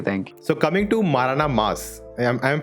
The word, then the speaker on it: Maranamass: So coming to MaranaMass, I'm pronouncing it right? Yeah, Okay, great. MaranaMass.